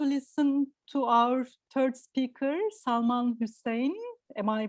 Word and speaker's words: Salman Hussain: Now we are going to listen to our third speaker, Salman Hussain. Am I pronouncing it right?